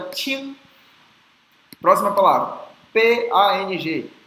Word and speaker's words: Pang: Próxima palavra, P-A-N-G. O P tem que ser soprado, então é P, P. E o A-N-G vai ter o som de AG, AG. A gente não fecha a boca, é AG. Então é Pang, Pang, Pang, Pang, Pang.